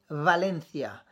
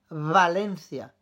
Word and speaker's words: Valencia: là où b&d valencia attention ce n'est pas aussi prononcée que le b de barcelone tu vas dire je sais pas si tu entends de la différence près de bien l'oreille barcelone valencia barcelone valencia valencia mais voy mais boys